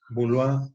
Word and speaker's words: Boileau: Van a encontrar a Molière, van a encontrar a Racine, son franceses, Corneille, van a encontrar Boulois, se escribe Boileau.